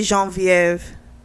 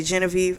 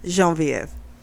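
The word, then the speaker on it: Geneviève: woman named uh in french they would say jean-viv here i guess we would say genevieve i don't like genevieve so i'm going to use the french pronunciation jean vf so he's going to marry her um she's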